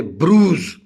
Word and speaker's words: bruise: And then if I say bruise, B-R-U-I-S-E, bruise is actually sort of infliction.